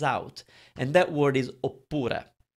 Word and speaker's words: oppura: and that word is oppura opura means or it's doesn't have a different meaning it's just opura means or but it's three syllables it's got a double p it fills your